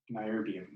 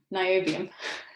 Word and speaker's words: niobium: Niobium. Niobium.